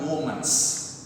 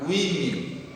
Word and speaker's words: women: Jangan kau ucapkan womans, melainkan women, ya, women, ya.